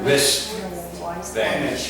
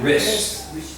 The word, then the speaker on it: wrist: digital not w is silent so it's my wrist or i hurt my wrist not a rich fan